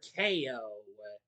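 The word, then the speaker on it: Kayo: three arching kid brother Ko, which is of course that's um a pun on the Ko and his name is spelled with a K A Y O.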